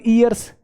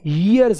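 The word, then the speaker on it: years: pronunciation कर लेते हैं ईयर ई की साउंड नहीं है इसमें आप इसको एक काम करना डिक्शनरी में टाइप करके और ऑडियो सुन वो यर नहीं वो बोलेगा यर यर यर य की साउंड बोलेगा वो हम इसको ऐसे देसी भाषा में कर देते हैं फ इयर्स ई नहीं है यर्स है यर्स य की साउंड है इसमें तो यहां पे ए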